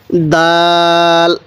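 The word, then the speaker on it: دال: মুখস্ত করে নিব এরপরে দাল দালটাও আমরা শক্ত করে উচ্চারণ করব দাল এরপরে দাল দালটা নরম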